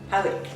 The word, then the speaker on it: Powick: My granddad in Crown East and my granny in a place called, the locals call it Pike, but it's spelled P-O-W-I-C, Powick, which are both like suburbs of Worcester.